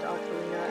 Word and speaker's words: Ocarina: If you remember from Ocarina, which I'm pretty sure it's actually pronounced Ocarina, and I've spent the last 2 decades saying it wrong.